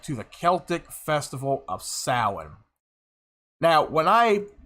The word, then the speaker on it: Samhain: He reads it as Samhain, the Day of the Dead. The word, in its spelling, sounds like it's pronounced as Samhain. It's actually pronounced as Samhain.